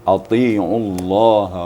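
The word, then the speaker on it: أطيعوا: disampaikan di awal tadi tanya harus agak tebal sedikit walaupun baris di bawah tapi harus tebal Ati atiullaha War Rasul ati ya Ati kalau membacanya harus ditebalkan walaupun letak lidahnya sama tapi ditebalkan lidah kita e dilebarkan lidah kita maka bunyinya akan tebal ya gitu ya dua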